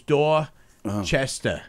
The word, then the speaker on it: Dorchester: Dorchester Dorchester Dora Chester it's like Dorchester there's no R so it's door Chester I'm just digging the